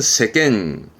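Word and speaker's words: 世間: 한국어는 세간 세간이라 하면 세상을 말하게 되는 단어인데요 발음은 세겐 세겐 캔입니다 그래서 요렇게 쓰게 되면 발음은 세겜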